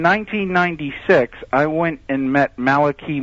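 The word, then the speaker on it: Malachi: I went and met Malaki Martin sometimes pronounced malikai Martin on the radio uh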